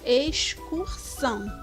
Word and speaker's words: excursão: eo c são pronunciadas também na palavra excursão nota-se que o som das letras x e c não é um dígrafo porque quando eu falo ex cursão eu tenho o som das duas letras na hora de